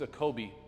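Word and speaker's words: ecobee: here again a Kobe I think I said it's scoby maybe I said it wrong it's a Kobe as far as the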